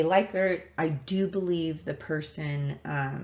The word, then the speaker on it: Likert: a lot of people um by the way leichert and liquor are both this both correct maybe not technically but culturally they're both correct most people say leica i do believe the person who it was